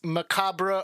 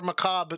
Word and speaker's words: macabre: from the end of dance macabre or macabre depending on where your pronunciation is i didn't even